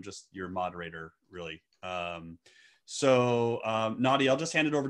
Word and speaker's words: Nadieh: So my name is Nadieh, and it's because in the Netherlands, if you have an I and an E, it's pronounced as a hard E, but I guess in American, it's different.